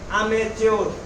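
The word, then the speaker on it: amateur: तो वो प्रोफेशनल नहीं है, उसको क्या कहेंगे, अमेच्योर। अमेच्योर। अमेच्योर, यहाँ टी है लेकिन प्रोनाउंसिएशन इसका टी है कि टी कच्चा है।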